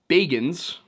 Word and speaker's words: Bagans: And I do realize his name is pronounced Bagans, but Bagans is funnier. Now, as we recently discovered,